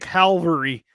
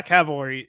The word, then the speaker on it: cavalry: for C operations because I can't say Cavalry I just said it right properly said it Cav know Cav but I always end up throwing it I make it calvary is what I end up making first Cal yeah Cavalry yeah oh well the